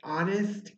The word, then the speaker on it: honest: for some words like honest in our remember the word honest in our your H is silent but it's still going